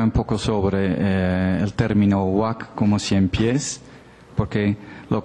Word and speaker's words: Waka': Ahora, en el caso del Perú, nosotros sabemos que se lee huac porque aparece sustituido muchas veces por la sílaba gua y por la sílaba ca para rendir la palabra huac.